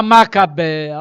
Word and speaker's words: Macabeia: Vou botar um acento para melhorar a pronúncia. Né? É o caso de Léo. Está lá o acento só para dizer que o E é aberto. Né? É a Macabeia.